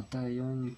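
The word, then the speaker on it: Dahyun: a un D, c'est Dayon, mais du coup ça se prononce plus comme une sorte de T, enfin c'est assez bizarre la prononciation de son nom. C'est plus un Taeyeon que Dayon.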